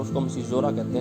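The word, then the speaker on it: caesura: Okay, आगे है द सिजोरा। इसकी स्पेलिंग आप देखिए अलग है, लेकिन इसका प्रोनाउंसिएशन है सिजोरा।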